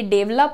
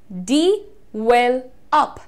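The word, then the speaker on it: develop: जो प्रोनाउंसिएशन है, ध्यान से देखिएगा, यहां पर आपको कहना है डिवेलप, डी वेल अप, डिवेलप।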